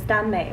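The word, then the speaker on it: 耽美: So if you don't know what that is, the proper, I guess, Chinese pronunciation is Danmei, which means it kind of stems from boys BL novels from Japan, which is like boys love.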